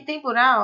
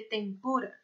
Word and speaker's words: tempura: Só que tempurá, ó, em espanhol não se lê assim, a sílaba tônica é outra. Então se lê tempura, tá?